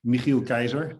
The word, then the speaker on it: Michiel Kaiser: of my name uh it's uh it's michiel kaiser is rightly pronounced but i don't think there's many people outside of the netherlands who are able to pronounce it correctly uh i my parents